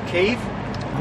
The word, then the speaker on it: Kiev: going to, and I know that the proper pronunciation is Kiev, untold facilities to all those people that need transport, and otherwise they simply wouldn't get it.